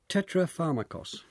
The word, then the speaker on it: tetrapharmakos: David Sedley, Epicurus encapsulated his core beliefs in a formulation known as tetrapharmakos. Is that how you pronounce that it?